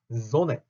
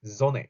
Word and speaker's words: Sonne: 그리고 우리가 배우는 지금 단어는 Sonne, die Sonne 요렇게 그 M이나 N이 여러 개가 그러니까 두 개가 붙어 나올 때 발음 콤맨, 큰맨 요렇게 하지 않습니다. 여기서도 Sonne 요렇게만 읽으면 돼요.